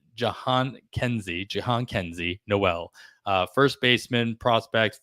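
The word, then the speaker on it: Jhonkensy: still mess it up uh it's Jan Kenzie Jian Kenzie Noel uh first baseman Prospect for the Cleveland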